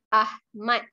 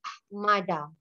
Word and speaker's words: Ahmad: Nama ayah saya Ahmad. Okay, last class, some of students, they say nama ayah saya Ahmada. Is it not Ahmada?